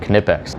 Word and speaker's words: Knipex: tell i really like canipex and yes the k is pronounced we're not going to